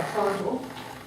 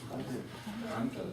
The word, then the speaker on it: Prandtl: everyone to yell at me, was invented by Prandtl. Who knows who Prandtl is? Who's ever heard the word Prandtl?